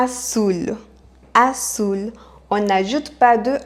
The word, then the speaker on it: azul: colore azul elle colore azul à savoir qu en amérique latine on prononce comme s'il y avait deux aces azul alors qu'en espagne on dirait à toul ar foule à savoir que